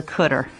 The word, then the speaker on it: cdr: cell here this is known as the cooter CDR car and cutter just a common pronunciation for it so let's say